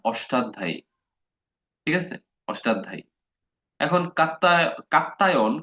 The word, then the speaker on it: কাত্যায়ন: এখন কাত্তায়ন খুব সম্ভবত বানান মানে উচ্চারণটা কাত্তায়ন, আর পতঞ্জলি এই দুজনের কথা আমরা বলবো।